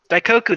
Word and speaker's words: Daikoku: Um the main area is the um sorry for the butchering in the pronunciation of this, but is the Daikoku uh parking area. DKU. Daikoku.